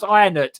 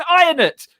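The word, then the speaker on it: Ionuț: And I was like, "Their name is just Ionut. Like, it's not that hard to pronounce. Ionut. It's a Romanian name. I will just call him, mate." And I'd be like, "It's Ionut.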